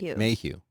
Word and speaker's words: Mayhew: Mehew? Mayhew. Like Mayhew's Liquors?